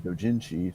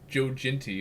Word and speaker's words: doujinshi: He had previously garnered quite a career in manga, from everything from doujinshi to professionally printed. Now, for those who aren't weebs, what is Jojinti, or however the fuck you pronounce that?